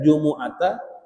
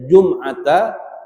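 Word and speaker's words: جمعة: Jumat itu bisa inti baca jumuata, bisa inti baca jumata, bisa inti baca jumaata. Ya, jadi ada tiga bacaan. Kalau Imam Nawawi dalam kitab Majmu bacanya jumuah.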